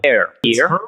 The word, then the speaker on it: Herr: Do I pronounce it well? Herr.